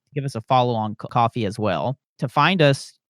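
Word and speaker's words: Ko-fi: to help us out I think it's actually supposed to be pronounced coffee but it does look like Kofi yeah so coffee Kofi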